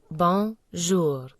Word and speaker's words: bonjour: Pronounce it like bonjour. Imagine you're saying bon, but with a soft N, and finish with jour.